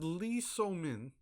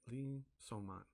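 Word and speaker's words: Lee Soo-man: So, this guy is Lee So-min. I butchered his name. I apologize, sir. Right? Lee So-man.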